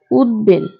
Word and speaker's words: উদ্বেল: ফলা উচ্চারিত হবে ব ফলা উচ্চারিত হবে যেমন উদ্বেল যেমন উদ্বেল এর উচ্চারণ হবে উদ্বেল এর উচ্চারণ হবে উদ্বেল এরপরে